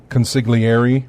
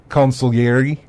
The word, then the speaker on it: consigliere: the way it's it's Daniel Phelps which I pronounced it as consigliere yes but it's not he said it's supposed to be pronounced consul iary and so but he said I pronounced it